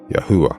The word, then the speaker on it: Yahweh: name would have sounded the name I have concluded and I'm convinced of with all my studies is Yahweh I arrive at this